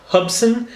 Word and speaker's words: Hubsan: And this particular one, I believe you pronounce the name Hubsan, H-U-B-S-A-N, Hubsan.